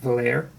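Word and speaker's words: Vallière: as well as the Valère cannon, it's pronounced, I believe. This is going to be a 4-pounder French, pronounced Valère.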